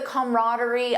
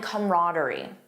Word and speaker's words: camaraderie: They enjoyed the camaraderie of working together. The trip was filled with laughter and camaraderie.